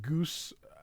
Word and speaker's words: Guice: Um, although it's spelled like juice. Goose. It almost sometimes um I um when I was young I thought it was Jackson Goose.